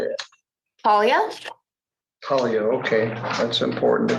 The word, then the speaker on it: Paglia: Talia?